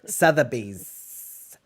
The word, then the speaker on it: Sotheby's: You have to say all the syllables as a New Yorker. Sotheby's. And also extend your S's for some reason.